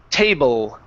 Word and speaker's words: table: the word table okay so with your L sound okay this is going to be a tongue movement instead of a lip movement so when you pronounce the word table you said table and it was old at the end with an old sound so instead of oh it's all with your tongue table table there you go